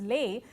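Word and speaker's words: lais: and also her work, pronounced L-A-I-S and pronounced as Lay, it had a growing readership even before Caxton, even before the prevalence of printing press.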